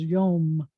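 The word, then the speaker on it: יום: So you have to call to the light, Yom. And I want you to feel how that word sounds. Yom.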